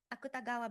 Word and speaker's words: Akutagawa: For example, the pronunciation of the syllable wa is pronounced very frequently as va, so Kawabata becomes Kawabata, Akutagawa becomes Akutagawa, and of course, the famous motorcycle brand Kawasaki also becomes Kawasaki.